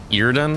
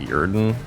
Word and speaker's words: Yrden: why I'm surprised right need more ear done I think it's how people say it's actually pronounced not yrden so we shall see there's